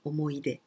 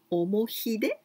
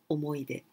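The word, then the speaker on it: 思い出: pronunciation is the same omoide and the other one with hiragana like this well here it is written omohide but we pronounce omoide well i'm going to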